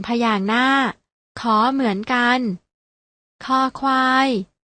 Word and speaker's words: ค: เสียง คอ เหมือน กัน พยัญชนะ ตัว แรก อ่าน ออก เสียง ว่า ค ควาย พยัญชนะ ตัว ที่ 2